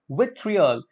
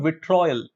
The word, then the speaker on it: vitriol: sixth word that we have is with fear with triol is not with trial the trial is a very common way of incorrectly or mispronouncing it so the correct pronunciation is with